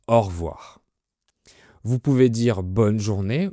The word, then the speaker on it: au revoir: Généralement, on prononce au revoir.